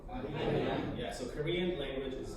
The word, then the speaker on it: Arirang: It's actually an L in the Korean alphabet, but I don't know when it's romanized.